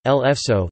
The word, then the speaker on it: Le Faisceau: Le Faisceau, French pronunciation, L'Faisceau, the Fascis, was a short-lived French fascist political party.